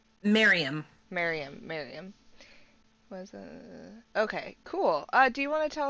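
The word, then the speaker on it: Maryam: Mariam? Miriam.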